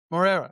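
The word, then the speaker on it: Moreira: Pablo Moria, is it Moriera? Is that how you pronounce it? More era. Morera.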